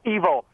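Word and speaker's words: Evol: second feature movie called Evil, E-V-O-L. Evil? Yeah, okay. It's pronounced evil, like E-V-I-L, but it's love spelled backwards.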